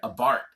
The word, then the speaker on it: Abarth: cute and it's angry was the Fiat 500 Abarth and it's spelled Abarth but it's pronounced a Bart dragon